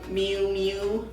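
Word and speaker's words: Miu Miu: Mew Mew. Oh wow. Is that how you say it? Mew. Mew Mew? Yeah.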